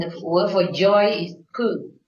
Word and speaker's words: Pu: And the word for joy is Pu, P-U. Pu in Vietnamese, yeah?